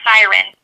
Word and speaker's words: Syron: So it's actually pronounced Syron, but Okay.